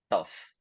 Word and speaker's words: tough: very tough so yes sometimes when we have GH at the end of a word sometimes it becomes pronounced as F but not always not always okay and